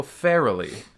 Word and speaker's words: Farrelly: Oh, Farrelly. You were saying like just fairly. Yeah, but it is Barely. pronounced fairly. Like barely.